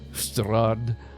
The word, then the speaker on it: Strahd: How do you say that, Whip? Strahd. Yeah. Gotta roll that R a little bit. Yeah. Episode 1, Curse of Strahd.